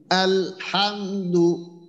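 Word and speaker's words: الحمد: আল এক্ষেত্রে যেটা হয় আমাদের অনেকের ক্ষেত্রে হয়ে যায় আল হামদু বলতে গিয়ে আলে হামদু আলে ওই আসলে লামটা অনেক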